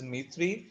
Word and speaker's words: Dmitry: ठीक है, यहाँ पे D जो है वो साइलेंट है. इट इज Dmitry Ivanovich Mendeleev.